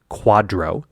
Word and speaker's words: QDRO: QDRO, Qualified Domestic Relations Order, pronounced, for what it's worth, QDRO, which sounds like something you'd order at a Tex-Mex restaurant, but is actually a